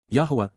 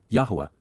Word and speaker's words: Yahweh: two more than find in both tets combined Yahweh Yahweh the proper pronunciation of the name of elah God as